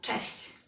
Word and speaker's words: cześć: First off, let's have a couple of examples of such words with sh, sh. Let's take a look at maybe 4 of them. Number 1, cześć, cześć.